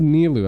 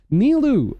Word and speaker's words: Nilou: So her name is Nilou. I've been saying her name wrong the whole time, it feels. I've been calling her Nilo, some shit like that. Nilou. Okay.